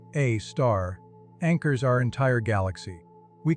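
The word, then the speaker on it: Sagittarius A*: a supermassive black hole named Sagittarius A0, pronounced A star, anchors our entire galaxy.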